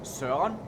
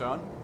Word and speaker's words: Søren: So my name has like so the very, very correct pronunciation is Søren. Right? That's if you go to Google and have it like speak it out for you, it'll be like Søren. In daily speech, it's just Søren.